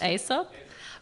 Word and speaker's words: Aesop: Priča koju sam jutros podelio sa decom dolazi od Aesop. Do you know how to say it? Aesop?